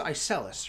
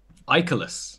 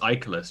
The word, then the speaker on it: Icelus: I'm excited to meet his pronounced ice Ellis right I colas I colas I'm so sorry I did not see ya yeah I know right I was I wasn't convinced and so I found out it was a colas just to confuse everyone oh there you go well